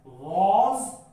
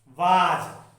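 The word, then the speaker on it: was: कुछ बच्चे इसका प्रोनाउंसिएशन गलत करते हैं, वाज वाज वर नहीं, वॉज एंड वर। जब भी हम W का प्रोनाउंसिएशन करेंगे, जब हमारे लिप्स थोड़े कर्व होते हैं, देन जब इसका प्रोनाउंसिएशन सही निकलेगा वॉज और वर प्लस वर्ब में आईएनजी।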